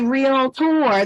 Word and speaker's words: Realtor: Christy Ferguson I am a real tour that is pronounced with two syllables and when you write